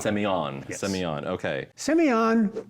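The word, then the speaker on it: Sémillon: here because you're saying Semillon, I wanna say Simeon. We're gonna get into a lot of like Planet of the Grape puns. This is gonna be something else. I am not French, but the pronunciation is Semillon. Semillon, Yes.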